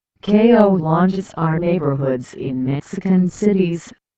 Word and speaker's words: colonias: in 133 families in general colon is Spanish pronunciation KO launes are neighborhoods in Mexican cities which have no